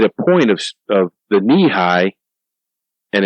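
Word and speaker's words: Nehi: point of of the knee-high and it's it's spelled n-e-h-i but it's pronounced knee high because the bottles were taller than coke bottles they were knee-high ah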